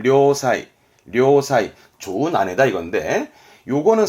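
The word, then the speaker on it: 良妻: 그래서 발음은 료사이, 료사이.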